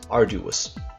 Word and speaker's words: arduous: If you're not sure where it is, then the good rule is that the stress is very likely to be on the first syllable that isn't a common prefix.